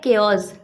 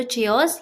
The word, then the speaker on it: chaos: अब देखिए इसे बहुत से लोग गलत प्रोनाउंस करते हैं। इसे बहुत से लोग बोलते हैं या तो चेओस या फिर चाउस, जो भी बोलते हैं गलत ही बोलते हैं। करेक्ट प्रोनाउंसिएशन इसकी होती है केओस।